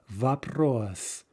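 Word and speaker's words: вопрос: in but in the if it's in the syllable directly before the stressed syllable it it reduces to ah vapros elsewhere sort of like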